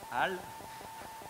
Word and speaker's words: HAL: dans vos langues respectives, en français on dit HAL, H-A-L donc, le robot central hein,